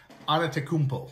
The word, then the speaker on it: Antetokounmpo: Giannis, and his last name is pronounced Antetokounmpo.